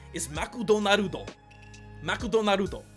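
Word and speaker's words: マクドナルド: don't understand is that you're throwing in so many extra syllables that it makes so freaking hard to read makudo naruto six mcdonald's three arguably two you're extending the word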